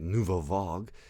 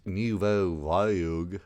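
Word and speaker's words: nouvelle vague: Because it's very, if you don't know, French new wave, nouveau vague, that's how you say it in French, nouveau vague, that's how you pronounce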